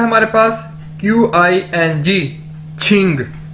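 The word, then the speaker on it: 请: Next word है हमारे पास QING, छिंग। क्यू को हम छे के तौर पर, छतरी वाला छे के तौर पर प्रोनाउंस करते हैं, और इसका मतलब है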